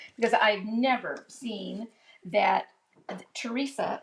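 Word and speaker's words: Theresia: It is Teresa. However, it is spelled T H E R E S I A.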